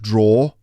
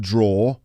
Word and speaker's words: drawer: pulled open a desk drawer and that word is pronounced draw d-i-a-w-e-r draw pull open